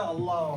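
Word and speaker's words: الله: எப்ப நாங்க சாஃப்ட்டா உச்சரிக்கிறது? அல்லாஹ்வுக்கு முன்னால அஸ்ரா இருந்தால் மட்டும்தான் நாங்க சாஃப்ட்டா உச்சரிக்கிறது. அந்த லாம் மட்டும்தான் எம்டி லாம். மத்த இடங்கள்ல வரக்கூடிய லம் யலித் வலம் யூலத் அதுல வர லாம் எல்லாம் சாப்ட்தான்.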